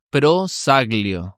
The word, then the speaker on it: Prosaglio: ¿Cómo se pronuncia bien el apellido? Prosaglio. Sí, bien Prosaglio, italiano.